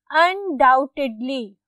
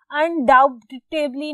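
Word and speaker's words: undoubtedly: अनडाउटेडली। B silent होता है। इसमें अनडाउटेबली नहीं बोलना।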